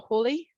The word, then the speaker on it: Halley: how howdy's comet um named after the famous astronomer edmund halley or hawley however you want to pronounce his name i say halle and halley's comment is